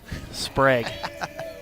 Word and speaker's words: Sprague: You're putting the accent on the wrong syllable. Sprague.